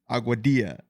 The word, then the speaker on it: Aguadilla: what is it a aadia aadia UF we'll have to take your word for it cuz I've always pronounced a Dilla same with tortilla not the good not